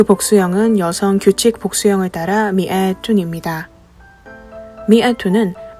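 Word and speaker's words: مائة: 여성 규칙 복수형을 따라 미아 2입니다 미아 2는 민 뒤에 알리프 삽입한 형태로 더 널리 사용됩니다 리프가 있다고 하여 발음이 마로 되는 것은 아니고 그대로 미아라고 발음합니다 또한 숫자 100은 삼격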